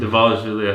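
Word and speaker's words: Dvalishvili: morab de devish villy I pronounce his last name devish villy I think that's right my next one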